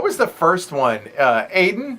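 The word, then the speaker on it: Aodhán: that yeah what was the first one uh aidan aiden a-o-d-a-n yeah that is it a-o-d-h-a-n with the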